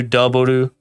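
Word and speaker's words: ダブル: So in Japanese, W is just pronounced Daburu. So W, Daburu. Or there's also the anime series of Kamen Rider Double I need to watch, which is Futo-Pi.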